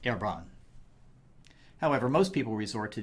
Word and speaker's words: Herbrand: as Ebron is French it should properly be pronounced herbron however most people resort to the angiz version